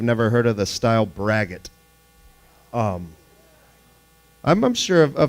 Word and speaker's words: braggot: no it it's uh it's pronounced just like it's spelled brag it it's not a very